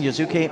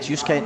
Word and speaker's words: Yusuke: cards oh Victor racing yazuke Nakamura scared as I've been taught how to say it yusuke Nakamura and alongside him another wild